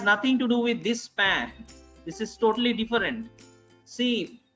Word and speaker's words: pain: AIM, AIN together is pronounced as A. A. So, P plus A is pan.